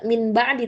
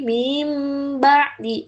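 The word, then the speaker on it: مِنْ بَعْدِ: Jadi nun matinnya tidak dibaca langsung ke ba. Jadi bacanya gimana? Mim ba'di. Mim ba'di. Jadi bukan min ba'di tapi mim ba'di.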